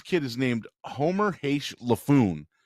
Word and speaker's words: Laffoon: I mean, this Anne Heche's kid is named Homer Haish Laffoon. His fucking name rhymes with buffoon.